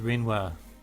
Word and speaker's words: Renoir: privacy i apologize if renoir inconvenienced you in your travels but as you can see everything's fine i don't know why that name is pronounced rinwa raven what's going on